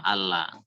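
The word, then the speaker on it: ألا: An, la, dibaca semuanya, baik yang ada nunnya ataupun yang bertasdid lamnya tadi, itu dibaca sama. Allah. Cara bacanya begitu.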